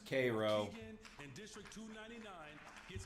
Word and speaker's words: Cairo: Louis, It's pronounced Cairo.